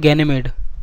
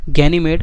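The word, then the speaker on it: Ganymede: Satellite है वो है गैनीमेड। ठीक है, गैनीमेड, अगर स्पेलिंग की बात करें तो GANY, ठीक है, और MEDE। ठीक है, गैनीमेड, और इसका साइज हमारे मर्क्यूरी और प्लूटो से भी बड़ा है।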